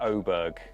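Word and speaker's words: Åberg: as well oberg rather oh is it aberg pronounce is pronounced something like oberg oberg well there you go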